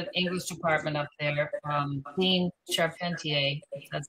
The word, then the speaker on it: Charpentier: So I did send the head of the English department up there, Dean Charpentier, that's how he pronounces it, invitation letter with two posters attached that have all the information.